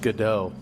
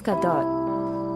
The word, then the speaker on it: Gadot: I thought it was pronounced Godot. I think it's Gadot.